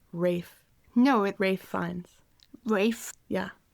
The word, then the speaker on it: Rafe: It's pronounced Rafe.